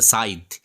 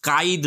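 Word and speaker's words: scythe: করছে age stone go over and under দা সাইদ উচ্চারণটা কিন্তু হবে সাইদ কাইদ নয় অনেকে ভুল প্রোনাউন্সিয়েশন করে এটা এটা কিন্তু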